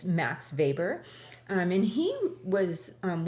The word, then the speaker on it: Weber: of our leading sociologists Max vber it's it's pronounced vber even though it's spelled um we b r like Weber it's Max vber um and he was um one of the